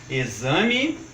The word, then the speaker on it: exame: porto Itu e agora atenção também para as palavras de x com som de z como por exemplo exame exílio exemplo Êxodo exumação e exerese notem que por uma